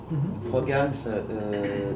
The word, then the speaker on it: Frogans: Non, c'est un peu comme vous voulez, on peut le prononcer, mais c'est juste Frogames.